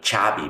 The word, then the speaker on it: chav: Suena como chavi, ¿verdad? Chavi.